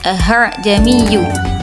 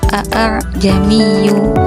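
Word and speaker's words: أَأَعْجَمِيٌّ: surat fusilat ayat 44 yang berbunyi ahamiyu dilihat dari tulisannya seharusnya dibaca A jamiyu waabi tapi Hamzah pertama dan kedua cara bacanya agak diringankan dengan bunyi leburan Hamzah dan Alif itulah macam-macam bacaan garib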